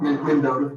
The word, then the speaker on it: Mendota: Mendota, how do you say? Yeah. Is that how you say something? That's right. Mendota, M-E-N-D-O-T-A, Virginia.